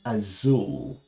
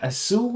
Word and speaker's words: Azul: I think it's pronounced Azul. A-Z-U-L. It's... in theory, Portuguese based, and I believe they don't lisp their Zs in Portuguese, which is a wonderful game.